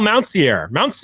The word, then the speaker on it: Mountsier: Mountsier. Did I say it right already? Mountsier. Just super simple. Sear. Yeah.